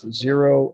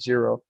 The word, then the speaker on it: Zhero: We can start delivering completely clean energy, which what we're doing with Zero and TESS. Zero is my holding company. It's spelled ZHERO.